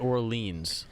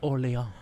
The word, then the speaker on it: Orléans: Well, you know, it's because we pronounced it Orleans and not Orléans.